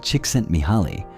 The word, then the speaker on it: Csikszentmihalyi: In the 1980s and 90s, psychologist Mihaly Csikszentmihalyi, who is pronounced roughly "cheek sent me high", developed his famous theory of flow.